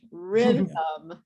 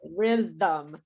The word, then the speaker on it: rhythm: is the killer word rhythm because we have that th in the rhythm okay um any questions